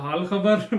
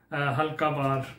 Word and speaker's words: हाल खबर: VTEN का था हाल खबर, मैंने पढ़ दिया हल्का बार. मुझे लगा शायद हल्का बार लिखा हुआ है, वही मैं पढ़ गया हूँ. आई एम सो सॉरी, मैंने प्रनाउंस जो है ना सॉन्ग के जो टाइटल है उसको सही नहीं किया. हाल खबर वो मैंने सुना है तो फिर मुझे समझ आई है हाल खबर बोलते हैं कि आप कैसे हैं.